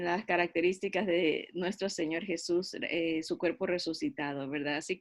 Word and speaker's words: Jesús: Entonces, cuando se traducen los cantos, muchas veces se ha reemplazado la palabra Jesus por Cristo, porque no encaja Jesús en español porque lleva el acento en la segunda sílaba y no suena bien cuando se está cantando, musicalmente hablando en los tiempos, ¿verdad?